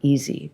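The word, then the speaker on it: Isi: Walla and Easy, I-S-I, Easy, but those are family terms.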